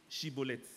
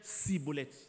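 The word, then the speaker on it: Schibboleth: Comme tu dis que tu n'es pas Ephraïmite, il faut dire Chibolette. Et il disait Cibolette. Car il ne pouvait pas bien prononcer.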